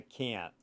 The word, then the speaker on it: can't: Americans don't pronounce the T. They just, ew, I can't.